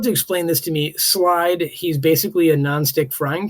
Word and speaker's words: Slyde: Slide, he's basically a non-stick frying pan. I don't know what that means. That's one of the answers in the survey. Yeah. It's spelled funny, right? SLYDE.